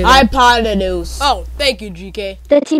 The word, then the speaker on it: hypotenuse: Hypotenuse.